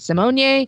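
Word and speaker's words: Symoné: for Raven Simone uh sometimes she pronounces it Simone but it's Raven Simone is what I'm looking for here it's a good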